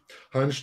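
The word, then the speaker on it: Hantsch: hunch the name is spelled like hand with an sch at the end or hanchus had enjoyed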